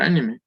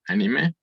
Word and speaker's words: anime: en México a veces es empleada la palabra anime con acento en su última sílaba para referirnos a aquellas animaciones de procedencia japonesa es más común a nivel mundial el uso del término anime sin acento Aunque ahí no existe